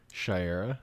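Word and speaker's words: Shayera: can't I don't want to mispronounce her name what's Haw girl's name Shera Shera I was going to say Shara Shera um because she's not a hot girl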